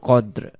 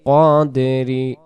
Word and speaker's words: قدر: প্রথম শব্দ হবে লাইলাতিল কদ্র, আর পরে দুইটা হবে লাইলাতুল কদ্রি, তারপরে আবার ওইটাই শব্দ লাইলাতুল কদরি লাইলাতুল কদরি। কাদরি হবে না, উচ্চারণ কদরি কদরি।